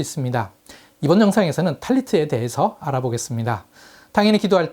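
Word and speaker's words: טלית: 탈무드 시대에 티베리아의 유대인들은 기도할 때 사용하는 망토를 탈레트라고 불렀습니다. 스파라딤은 계속해서 이 이름을 사용했는데 아슈케나짐과 이디시에서는 이것을 탈리스라고 불렀습니다. 하지만 현대 히브리어에서는 탈리트라고 합니다. 자음은 같은데 모음의 발음이 달라진 것이죠.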